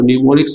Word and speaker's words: mnemonics: आप देखेंगे निमोनिक्स की स्पेलिंग एन से शुरू होती है। ठीक है? इसको याद रखेंगे इसको निमोनिक्स पढ़ा जाता है।